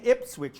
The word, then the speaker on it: Ipswich: Everybody's fighting the big Newburyport and Ipswich, which rhymes with sandwich, which we're gonna get tonight.